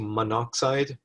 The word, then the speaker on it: monoxide: And in English language, we don't like too many vowels close together because it's awkward to pronounce. So it just condenses to monoxide.